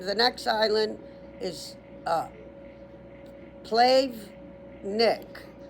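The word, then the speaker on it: Plavnik: The next island is uh Plave Nick. So P L A V like victory. Nick N I K.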